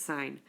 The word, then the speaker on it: sine: it it looks like sin but if you pronounce it sine and then sign compares the ratio of opposite